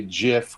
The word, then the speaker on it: GIF: It warms my heart that you say GIF, which is the correct way to say it, by the way.